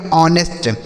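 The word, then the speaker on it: honest: यहां पे एच जो है एस साइलेंट है। तो इसे पढ़ेंगे ऑनेस्ट।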